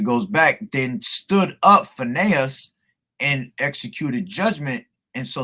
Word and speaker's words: Phinehas: Phinehas. All right, Phinehas. Won't forget that no more. All right, so it goes back. Then stood up Phinehas and executed judgment, and so the plague was